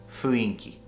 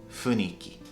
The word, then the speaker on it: 雰囲気: Now, a lot of people think it says 雰囲気. But actually, the proper pronunciation of this word is 雰囲気.